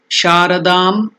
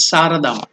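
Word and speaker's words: शारदाम्: Sarva Jiva Tranakartrim Sharadam. It should be pronounced as Saradam.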